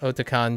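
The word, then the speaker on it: Otakon: the 25th year of oton or and it's pronounced otan because it's a otaku meets convention so you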